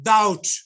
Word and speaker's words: doubt: You see, and it's again doubt. We don't say doubt, dubbed. But is not pronounced.